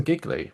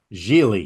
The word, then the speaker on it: Gigli: Apparently he's in Giggly, which I forgot about. Gigli. Yeah. It's Julie, pronounced sorry.